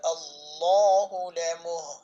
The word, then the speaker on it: আল্লাহ: মুত্তাসিন হামজা লাম্ আল্লাহ এই আল্লাহ শব্দকে আল্লাহ বলা যাবে না আল্লাহ বলতে হবে অর্থাৎ মোটা করে উচ্চারণ করতে হবে। আল্লাহ শব্দের শুরুতে যদি জবর থাকে অথবা পেশ থাকে তাহলে আল্লাহ শব্দকে মোটা করতে হবে।